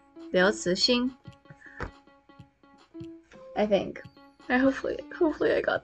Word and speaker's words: Liu Cixin: It is Liu Cixin, second tone. Ci, second tone. Xin, first tone. Liu Cixin.